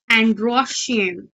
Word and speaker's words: androecium: Third word is androecium. यहाँ पे मैंने लिखा भी है इसकी स्पेलिंग, लेकिन अगर आपको यहाँ से नहीं दिख रहा है तो मैं आपको लिख के भी बताती हूँ।